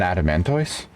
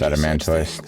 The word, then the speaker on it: adamantoise: the eye sure yeah I just think of Pokemon adamant or like Blastoise you know pretty sure